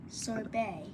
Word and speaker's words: sorbet: So, ballet, dance, and sorbet. A sorbet. Yeah. With no actual T pronounced from French.